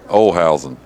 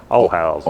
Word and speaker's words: Olhausen: Olhausen, okay. I don't know how you say it in America. Olhazens. There you go. Olhausen. Olhausen. Olhausen, yeah. There you go. That's how we say it in Texas. I don't know about the rest of America.